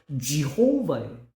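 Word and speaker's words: Jehovah: 영어 성경은 여호와가 아니고요. 제가 인대로 본데 발음은 지호바예요.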